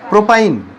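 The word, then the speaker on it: propyne: তাহলে উচ্চারণটা কি দিয়ে শুরু হবে? প্রোপ, আর ট্রিপল বন্ড থাকলে শেষে আইন, প্রোপ যোগ আইন, তাহলে কি হলো? প্রোপাইন।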